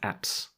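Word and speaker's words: apse: a p s e pronounce apps it is pronounced apps that's the bit at the back right these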